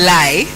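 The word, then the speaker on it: Lighe: come we have lamin Lai that's the second name is not actually l-i-e it's it's for it's spelled as l i g h e but pronounced as lie lamin Lai is the senior elections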